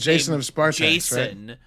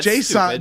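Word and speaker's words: J'son: and his dad is Jason, but it's spelled J apostrophe s because comics are the dumbest thing in the entire world.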